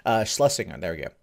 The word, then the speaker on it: Shlesinger: Shlesinger, there we go. Like, I can't pronounce her name, apparently.